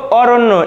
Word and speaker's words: অরণ্য: শুদ্ধ উচ্চারণ, দেখো অরণ্য, এখানে র এর সাথে রয়েছে অ, সমান সমান হয়ে গেছে রয় ওকার, এখানে রয়েছে দেখো জফলা, তো যার সাথে জফলা থাকে সে কিন্তু দুইবার হয়, যেহেতু মূর্ধন্যের সাথে জফলা সেজন্য হবে দন্তানু, দেখো এখানে দন্তানু কিন্তু দুইবার হয়েছে, তাহলে আমাদের অরণ্য এর শুদ্ধ উচ্চারণটি হয়ে যাবে, দেখো অরণ্য।